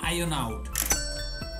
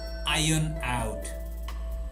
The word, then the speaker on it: iron out: exists notice the pronunciation we don't pronounce the r so it sounds like iron out iron out you practice it a